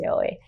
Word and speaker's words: Yaoi: known as Yaoi, which I said completely wrong in the other video, so please ignore that, but I believe it's pronounced Yaoi.